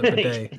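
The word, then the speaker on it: Badie: And that name upsets me because his name is Tyler Baddy, but they pronounce it Bidet.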